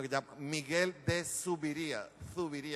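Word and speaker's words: Zubiría: se llama Miguel de Zuviría, con Z, Zuviría, B larga, Zuviría.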